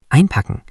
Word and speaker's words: einpacken: Next German word is Einpacken. Pronunciation, einpacken.